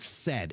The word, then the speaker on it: said: it all the time so it's a good one to get the pronunciation right and all it is is just a short e said s d said yeah